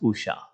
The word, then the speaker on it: Usha: It pronounced Usha.